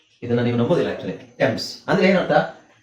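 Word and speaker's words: Thames: ಅಂದ್ರೆ ಅಂದ್ರೆ ಏನು ಅರ್ಥ ಟಿಎಚ್ ಎ ನಿಮಗೆ ಟಿ ಆಗುತ್ತೆ ಇಲ್ಲಿ ಎಚ್ ಸೈಲೆಂಟ್ ಆಗುತ್ತೆ. ಇಲ್ಲಿ ಎಚ್ ಸೈಲೆಂಟ್ ಆಗುತ್ತೆ ಎ ಅಕ್ಷರ ಏನಿದೆ ಎಚ್ ಸೈಲೆಂಟ್ ಅಂತ ಹೇಳಲ್ಲ ಅದನ್ನಎ ಏನಿದೆ ಎ ಉಚ್ಚಾರಣೆ ನಿಮಗೆ ಎ ಆಗುತ್ತೆ ಸೋ ಟ ಎಮ್ಸ್ ಟೆಮ್ಸ್ ಟೆಮ್ಸ್ ನದಿ ಆದರೆ ಇದನ್ನ ತುಂಬಾ ಜನ ನಾವು ಥೇಮ್ಸ್ ನದಿ ಅಂತನೆ ಕೇಳಿರ್ತೀರ ಥೇಮ್ಸ್ ನದಿ ಅಂತ ಕೇಳಿದ್ದೀರಾ ಇಂಗ್ಲೆಂಡ್ನಲ್ಲಿ ಇರುವಂತ ಹಿಸ್ಟರಿಲ್ಲಿ ಹಿಸ್ಟರಿ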